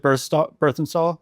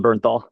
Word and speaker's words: Bernthal: Is it Berthenstahl? I always say his name wrong. John Bernthal. Bernthal, thank you, John Bernthal.